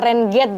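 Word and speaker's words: Renegade: di sini aku punya tulisannya renegate dibacanya Rain gate ya nih ini pedal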